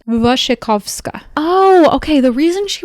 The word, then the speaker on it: Wasikowska: The actress who plays the main character Edith Cushing, her name is Mia and this is me following the pronunciation guide on Letterboxd. Wasikowska Oh, okay.